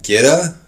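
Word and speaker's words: goetta: So this is gitta. That's what it's pronounced, gitta.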